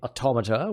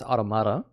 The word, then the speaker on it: Automata: Yeah, I know you would say Automata, which is sensible, but apparently in the game they pronounce it as Automata.